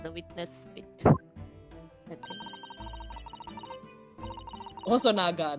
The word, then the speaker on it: Hosonaga: Hosonaga, not Housanoga.